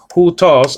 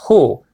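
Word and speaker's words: houtos: Hutos, well, actually, it's the rough reading over the diphthong there, the upsilon, giving you an indication that is a sounding sound before the first syllable, before the diphthong here. So it's not u, it's hu, hutos.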